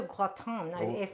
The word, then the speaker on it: gratin: Yeah, we're making potato gratin, that is actually how you pronounce it.